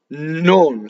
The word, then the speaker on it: non: Nnon. So K is a strong monosyllable. Notice that there's a double N. Nnon, right? Very little.